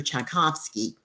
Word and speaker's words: Tchaikovsky: Tchaikovsky and that spelled tch ai ko V s K Y so it doesn't really look too much like Tchaikovsky but that's how it's pronounced he was born in